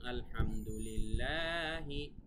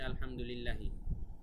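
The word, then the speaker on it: الحمد لله: হয়েছে একটু বানানে, যে আলহামদুলিল্লাহি এখানে তো খারা জবর হবে, ইয়া দিচ্ছে যে, তাহলে তো তারা বুঝবে না এখানে যে টান হবে। এখানে মানে উচ্চারণটা হবে এরকম আলহামদুলিল্লাহি, কিন্তু চলে আসছে আলহামদুলিল্লাহি, টান হবে কিন্তু টানটা দেওয়া হয় নাই।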